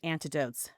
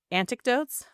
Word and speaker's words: anecdotes: And if you have any, I almost said antidotes, anecdotes. How do you say that word? Anecdotes. Anecdotes. Yeah.